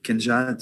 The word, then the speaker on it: Kinga: Kinga, like a king.